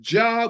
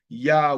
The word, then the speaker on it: Yah: It says Jah with a J, but it's actual, there's no J in the Hebrew alphabet, so it's actually Yah with a Y.